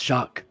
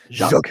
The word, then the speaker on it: Jacques: It's Jacques. It's Jacques is what his name is. You don't pronounce the S. Jacques.